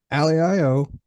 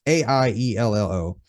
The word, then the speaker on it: Aiello: And Aliello, I hope I'm pronouncing the name right. Alio, it's Aiello.